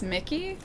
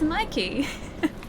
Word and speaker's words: Mikey: I really thought Mikey was pronounced Mickey for like the whole week I was there. Oh, it's a Mikey. It's Mikey. Wait, when did you learn the correct pronunciation?